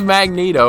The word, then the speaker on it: Magneto: Why do people pronounce it Magneto? Why don't we say Magnete for magnet? I don't know. That's a good question. But it is Magneto.